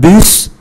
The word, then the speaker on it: bus: Un bus là xe bus, chúng ta cũng phải phát âm mạnh ký tự S.